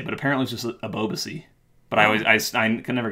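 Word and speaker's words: Ebobisse: then this guy is important ever be say a boba see that's how you say his name above Z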